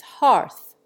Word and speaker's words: hearth: The English cling to a broad A sound by analogy with hearth. Even the latter, in the United States, is often pronounced to rhyme with dearth.